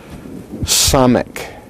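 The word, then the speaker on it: סמך: The very next letter in the Hebrew alphabet is samek. Samek. It is pronounced like the S in the word soul.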